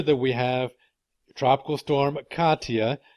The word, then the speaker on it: Katia: a storm for the fishes alright so again Katia and yeah that's how you pronounce this storm it's gonna drift to the